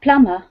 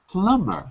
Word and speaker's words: plumber: the b a a plumber plumber correct okay written with a B but remember all MB words are the B is silent is silent just like